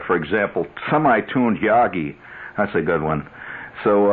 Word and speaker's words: Yagi: quite caught up yet yagi is spelled with a G it's not that sangria yagi sangria no it's yagi not Yago Yago you remember him he